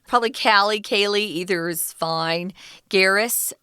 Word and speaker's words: Garris: Kaylee Kaylee either's fine Garrus is it's like Harris but with the G she was young so